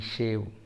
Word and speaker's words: shave: शेव, यहाँ स्पेलिंग है SHAVE, शेव. Okay, सेव नहीं है. शेव मतलब SAVE, सेव. सेव मतलब बचत, वो नहीं है, शेव है.